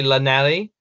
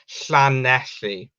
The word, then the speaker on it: Llanelli: What the thing is with Llanelli, a lot of people pronounce it wrong, which really annoys me. Some people say Llanelli, and it's not. You got to properly say like Llanelli, you know, if you're not Welsh.